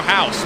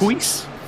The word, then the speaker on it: Huis: Bono House, one of sim racing's best of all time, for years. Huis? Bono Huis, he every different way, even though he's Dutch, and so it's Bono House.